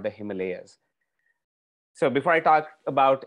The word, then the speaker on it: Himalayas: it's the house of snow and it's the himalayas and not the himalayas so before i talk about himalayan birds i